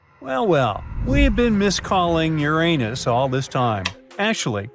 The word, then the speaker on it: Uranus: Well, well, we've been misalling Uranus all this time. Actually, astronomers say we should be pronouncing it like Uranus, not Uranus. I can't say a different stress changes much, though.